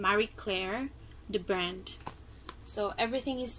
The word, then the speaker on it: Marie Claire: here anyway the brand of this bag is Mary Claire Claire how do you pronounce it Marie Claire it's a brand it's a good brand right